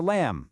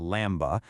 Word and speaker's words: lamb: The rule, if a word ends in MB, that B goes completely silent. It's like a little whisper you just don't hear. Think about it. You use a comb for your hair, not a comb. A baby sheep is a lamb, not a lamba.